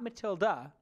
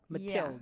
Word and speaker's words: Mathilde: Not Matilda, Mathilde.